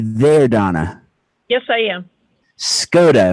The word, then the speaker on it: Skoda: Skoda. Am I saying it correctly? Yes, you are.